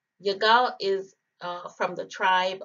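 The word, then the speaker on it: יגאל: a leader all right our next name is yagao yagao is uh from the tribe of issachar this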